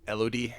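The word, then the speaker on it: Elodie: care written about and weird name elod it's like Melody with without the M yeah I was wondering if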